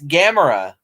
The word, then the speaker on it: Gamera: they call them gamera which what it's it's gamera the uh but yeah the i still hear people pronounce it that way to this day gamer